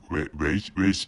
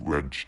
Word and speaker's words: wedge: So afterwards, this is a afterward, but actually, so maybe I think I mistakenly pronounced wage instead of wedge.